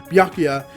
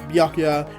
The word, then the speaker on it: Byakuya: I'm fairly certain that's how you say it, Byakuya, and he's just so happy to see his son.